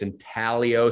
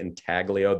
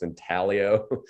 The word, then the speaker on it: intaglio: the cameo surface and by the way it's in tallio surface a lot of people say entaglio the g is silent again if you get nothing else from this presentation it's in talio right um and so